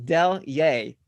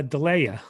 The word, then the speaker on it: Delyea: you go hi deliay it is pronounced del yey david got it david got it finally ripa yes ripa now knows how to say i thought it was uh delaia yeah i know